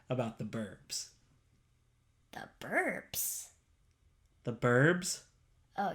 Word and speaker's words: 'Burbs: truth will out that I did not say the burps. What else would you like to say about the Burbs? Now you're saying Burbs. Now you're saying it wrong with the B.